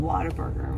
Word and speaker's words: Whataburger: place that I've never eaten at before called Whataburger. Is that how you say it? Whataburger.